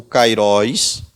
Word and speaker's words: Kairos: Então, baseado nesse calendário que é estabelecido pelo próprio Deus, o Kairos, ou Kairos, tá? Se você preferir pronunciar assim, porque na língua grega não tem muita distinção.